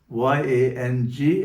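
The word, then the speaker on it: यं: And the mantra or sound specific to the ana chakra is yang y a n g and is pronounced as yang.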